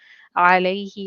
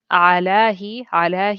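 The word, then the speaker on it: عليه: When attached to a pronoun, ila and ala are pronounced with a ya. For example, so that we add a ya with it, alayhi or ilayka. Instead of alahi, it flows better to have a ya there, alayhi, and ilaka, ilayka.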